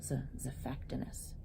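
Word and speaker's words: Xiphactinus: His name begins with an X, but it's pronounced as Zephactinus.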